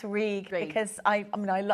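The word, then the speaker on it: Rhug: R H U G which you pronounce reg because I I mean I I like to say things properly and I love language too.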